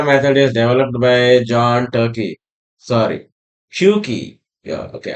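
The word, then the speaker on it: Tukey: Originally this particular method is developed by John Turkey sorry yeah okay R is not there actually R is silent here in 1970s itself.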